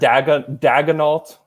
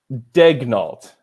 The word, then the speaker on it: Daigneault: I've heard Daigneault is I've heard that pronounced like that. It's just could not be more wrong. So Daigneault is the way that it's pronounced.